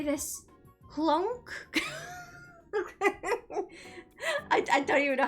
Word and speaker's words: CLONC: Clunk? I don't even know how to say it because I don't remember ever pronouncing it out loud. But it's CLONC.